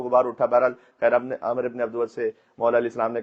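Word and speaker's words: عمرو بن عبد ود: انا عامر ابن عبدود، عامر ابن عبدود، یہ صحیح تلفظ ہوگا۔ اور مولانا نے کہا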